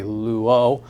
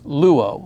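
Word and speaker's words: λύω: I should actually, sometimes when we're chanting them, it's easier to accent the second syllable, and so sometimes you'll hear me say luo, but really the accent is luo, lues, lue, luomen, luete, luusi.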